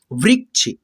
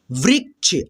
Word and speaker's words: वृक्ष: मैं क्या पढ़ा हूँ, वृक्ष, व्री और आधा क उसके बाद से छ बोल रहा हूँ। ठीक है, वृक्ष, ऐसे। ठीक है, तो ये जो छ है ना दोस्तों, इसमें क्या मिला होता है, आधा क।